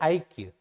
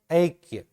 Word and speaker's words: ऐक्य: एक और एक के, जबकि वास्तव में इसका उच्चारण जो है वो इस प्रकार होना चाहिए कि एक और ऐक्य, एक और ऐक्य, ऐक्य होता है।